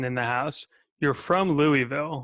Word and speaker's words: Louisville: for us, people in Louisville. And everybody else say Louisville. They can't even say it right. So Louisville. We don't know what's going on in there. You know, it's called Louisville. But Louisville. it's definitely, like I said,